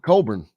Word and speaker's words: Cockburn: kofi leaving um coffee cockburn yes sir i think we should start calling him there's no way that that name is pronounced coburn what what language is